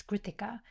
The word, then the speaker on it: Krutika: If I even just think about sometimes how I refer to my name, if I say my name in the mother tongue, it's Kritika, right?